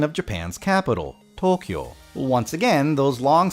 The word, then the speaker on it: Tokyo: now and then I hear some really weird ones including Tokyo or even people trying to over pronounce it like Tokyo if you want to say it right its Tokyo Tokyo speaking of over pronounciation